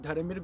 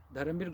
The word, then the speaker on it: Dharambir: Let me spell it: Dharamir, DHARAMBIR. It's not V, it's B for Bombay. Dharamir.